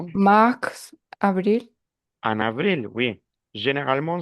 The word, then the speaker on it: mars: c'est bien attention mars le s il faut le prononcer mars lun prononce le mois